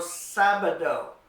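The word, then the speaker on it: sábado: the a that's El sabado El sabado it means Saturday and you make the first syllable sound a little stronger because it has that accent mark on it El sabado and our last day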